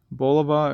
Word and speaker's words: Bulova: Bulova or bulova, however you want to pronounce it.